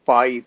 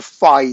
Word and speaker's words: phi: when we go to pi 3 okay uh or rather phi three i'm sorry have been mispronouncing then who that will